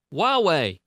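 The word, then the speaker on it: Huawei: was before yeah and it is pronounced why way yy-yeah right I think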